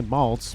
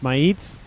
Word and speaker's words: Maites: why I would say Malts. But some people in the comments are probably like, no, it's pronounced Maites. And no, that is an I, not an L.